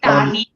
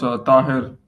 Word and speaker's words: Taher: Am I pronouncing your name right? Is it Tahi? No, it's Taher.